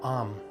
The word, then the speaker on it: Aum: Now, the second mantra is the mantra Aum. A-U-M, some of you would have heard it as Om.